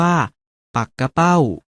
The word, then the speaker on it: ปักเป้า: เห็น อยู่ นี้ จึง แม้ จะ เขียน เหมือน ปักเป้า แต่ ออก เสียง ว่า ปัก กะ เป้า หมาย ถึง ชื่อ ปลา